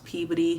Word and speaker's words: Peabody: i might be in i'll pronounce peabody but up here they pronounce peabody the next day i